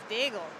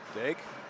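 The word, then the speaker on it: Daigle: Number 12, Dagel. Dig. Dig. I'm not sure how you pronounce. D A I G L E. Yeah. Is it just D? D. Yeah, I believe so.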